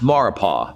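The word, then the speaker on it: Maurepas: mexico rapists it's pronounced mauropa the s is silent and it's a body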